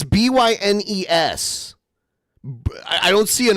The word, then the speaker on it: Bynes: Burns. It's Bynes.